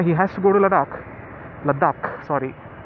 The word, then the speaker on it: Ladakh: has to go to Ladakh Ladakh sorry I used to pronounce it laughs I don't know why or reason but it's a lot doc all right so so